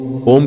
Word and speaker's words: ओम: ओम का उच्चारण तीन ध्वनियों से मिलता है। अ, उ और मम।